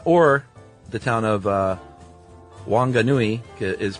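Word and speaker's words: Whanganui: Uh or the town of uh Wanganui uh is pronounced Funganui.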